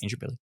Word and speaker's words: Indooroopilly: Indooroopilly.